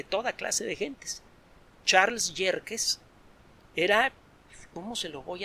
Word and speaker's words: Yerkes: luego el telescopio de yerkes que se escribe como suena con acá y con y al principio luego el gran telescopio